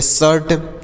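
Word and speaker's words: shirt: हो गया नेक्स्ट है एस एच आई आर टी तो एस एस से श आ आई का उच्चारण अ होगा आर से र टी से ट तो ये हो गया शर्ट आई का उच्चारण अ हो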